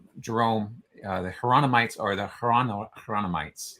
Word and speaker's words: Hieronymites: Jerome, the Hieronymites are the Hieronymites, like Jerome, if you pronounce it with a Y sound, like the Spanish would for Jerome.